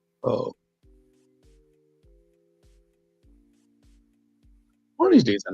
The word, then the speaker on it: pho: You're right with the pronunciation. The dish is called pho.